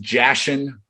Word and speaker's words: Jashin: uh jim his so it's actually pronounced jashin j-a-s-h-i-n it's on my